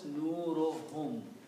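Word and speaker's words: نورهم: So when you combine these 2 together and read, one dhamma is not read, so it is pronounced as nurohum.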